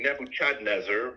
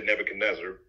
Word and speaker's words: Nebuchadnezzar: and and and Nebuchadnezzar some people say Nebuchadnezzar but I just say Nebuchadnezzar um he got really